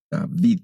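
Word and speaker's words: Δαυίδ: Y entonces, por ejemplo, el nombre de David se escribe en griego con una ipsilon y suena como una V, David, que es el nombre de aquel gran rey.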